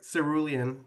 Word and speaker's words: Cerule: It's like cerulean, so it's like Cerule.